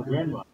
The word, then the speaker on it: grandma: Say grandma. You lose the N.